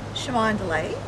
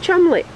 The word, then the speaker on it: Colmondeley: Shimanderlay. Shimandlay. that. Yes. Schmand delay. No, no, no. Barbara, this is one of those peculiar English words.